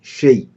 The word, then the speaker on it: chez: chez attention تقراهاش chaise. chez عند chez EZ à la fin se prononce A.